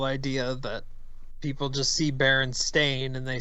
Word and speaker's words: Berenstain: Pronouncing those words out, Steen and Stain, when you see that written, it's pretty clearly Stain.